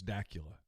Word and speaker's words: Dacula: It rhymes with Dracula, so it's Dacula.